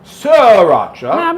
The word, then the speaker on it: Sriracha: sir should we agree the sri you don't pronounce the first he's like royal siracha little bit of bubbly so what makes this